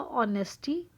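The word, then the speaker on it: honesty: जाएगा ऑनेस्टी word बनेगा ऑनेस्टी एच जो होता है बेटा व साइलेंट होता है honour R एच ओ यू आर होता है आर बी लेकिन हमारा जो एच है इसमें साइलेंट है ऐसे ही ऑनर ऑनेस्टी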